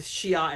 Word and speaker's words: Shi'ar: The Shi'ar Empress.